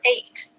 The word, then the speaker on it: ate: H has the H sound, and this is the word ate, A-T-E, like I ate a sandwich. Ate. A has the A sound, T has the T sound, the E is silent, and then we have our suffix full, F-U-L.